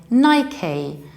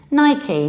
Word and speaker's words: Nike: guesses these are two completely different word we pronounce it like Nike Nike so it arrives with psyche psyche Nike in